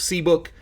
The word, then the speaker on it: CBK: Basically, it's written as CBK, pronounced C book, and it's based on